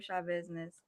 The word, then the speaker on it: Schabusiness: to say for yourself shaw hi i'm taylor shaw business and i'm a very hard-working dedicated individual that's